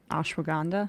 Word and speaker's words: ashwagandha: but let me just say this ashwag gandha ashwagandha yep that's that's what you couldn't say that's